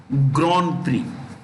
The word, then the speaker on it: Grand Prix: create the 2021 russian grand prix grand french word two separate words grind we say but they say gran and pre is price grand prize okay louise